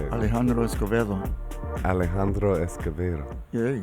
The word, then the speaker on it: Alejandro Escovedo: Alejandro Escovedo. Yeah. Is that how I say it? It's close. How do you say it? Alejandro Escovedo.